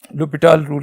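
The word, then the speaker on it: L'Hôpital: लिख देता हूं एल तो इसमें एच साइलेंट होते है लुपी टल रूल तो लुप टल रूल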